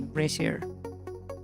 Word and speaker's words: brazier: Brazier. Brazier. So the A sounds like uh like a Spanish e. So it would be braier.